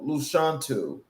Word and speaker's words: Lashawnte: My name is um Luchantu from the womb to the woman. So that is the phonetic way of saying my name.